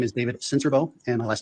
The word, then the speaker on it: Sincerbeaux: My name is David Cincerbo, and my last name is spelled Sincerbeaux.